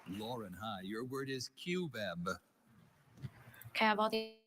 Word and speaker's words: cubeb: Cubeb. Can I have like can I have alternate pronunciation?